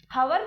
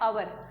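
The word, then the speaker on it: hour: और उसी प्रकार आवर, हवर नहीं बोलते इसको, इसका एच जो है वो साइलेंट हो जाता है और इसका उच्चारण होता है अवर।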